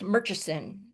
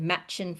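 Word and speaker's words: Murchison: Um if you look at this, it looks like it might be pronounced Merchesen. Okay, but they'll you'll hear all of the locals pronounce it Matchin Falls.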